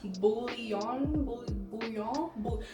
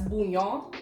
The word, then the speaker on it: bouillon: However, I also got some pickles, vegan salad dressing, this bouillon. So back home we would pronounce this as bouillon. I don't know, I've heard people saying bouillon.